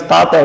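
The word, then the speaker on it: tāta: son tata means father lendering the first syllable so that it becomes tata indicates someone dear to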